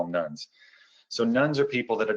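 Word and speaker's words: nones: the united states are what we call nuns i have to be careful we spell that no nes not nun uh what nuns are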